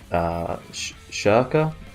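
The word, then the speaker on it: Schierke: Someone told me how to say it. It was Scheirke, I think is how you pronounce it.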